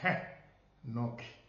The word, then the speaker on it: Henoki: is Enoch in English, but the name is Henoki, because we have the syllable from the main syllograph ha.